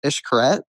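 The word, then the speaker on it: Xcaret: It's it's it's called Hotel Ishkaret. It's spelled X Carrot and it was it was unbelievable.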